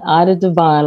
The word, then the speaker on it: Ida Divine: Ida Divine, like Divine Time. That's Divine right. Ida Time.